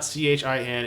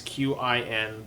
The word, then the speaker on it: Qin: So just in case you're googling this, it's not CHIN, it is QIN.